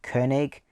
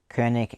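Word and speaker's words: König: is the brand and i believe you pronounce that kernig kernick electronic i think that's at least how you pronounce it it's a brand from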